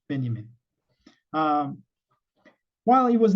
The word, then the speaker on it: Benjamin: Walter Benjamin uh spelled as Benjamin but uh pronounced Benjamin um while he was not a core member